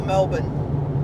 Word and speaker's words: Melbourne: What about Melbourne or Melbourne? Well, it's Melbourne. It's Melbourne in Australia, but yeah, the Americans say Melbourne. Yeah. They say the Borne identity. We don't say the Burn identity.